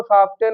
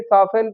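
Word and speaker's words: soften: सॉफ्ट में अगर हम इ एन लगा देंगे तो सॉफ्टेन नहीं सॉफ्टेन पढ़ा जाएगा। उसमें भी टी साइलेंट हो जाता है।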